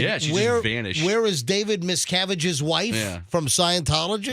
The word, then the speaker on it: Miscavige: safe return of Shelley miskovich oh good for him oh that's all his jokes are like well miss miss cavity he mispronounced the name but David miscavige is like the the